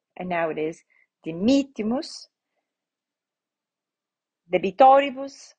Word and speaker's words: debitoribus: Debitoribus, right? So debitoribus, here the penultimate I is short, right? So the I between the R and the B is short, so the accent goes to the antepenultimate. Debitoribus nostris et ne nos inducas, right?